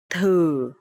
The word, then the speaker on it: thử: Okay, so here the letter TH, and you will pronounce thờ, thờ. And here the toe mark is dấu hỏi, so it will be thử.